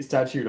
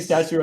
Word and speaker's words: statute: But by the way, you do know it's actually statute of limitations, right? With it like statute. I was saying statue as a joke. I just want to make sure you also knew it was a joke.